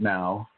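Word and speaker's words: não: And so even though there are some similarities within that language, like no is nao or is now, N-A-O is no. And, they pronounce it now.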